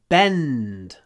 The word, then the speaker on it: bend: this material doesn't Bend Bend G remember when we have ND in English we hold the N Bend Bend long n before a du the wheel